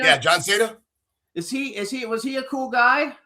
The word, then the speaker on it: Cena: Is that how you pronounce it, Cena? Yeah, John Cena.